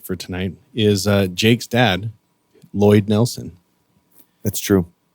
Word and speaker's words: Lloyd: The first L is silent.